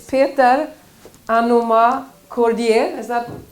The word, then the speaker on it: Anomah-Kordieh: It's Peter Anomah-Kordieh. Is that correctly pronounced? Good, great. I'm happy about that. I didn't know it was, maybe a little bit French touch.